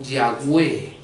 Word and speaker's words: Yahweh: Son Yud, Hei, Vav, Hei, las cuales nosotros pronunciamos como Yahweh, ¿verdad?